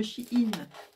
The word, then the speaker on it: Shein: En fait, j'ai commandé tout ça sur le site de Shein. Ça s'écrit, je vais vous l'écrire sur une feuille.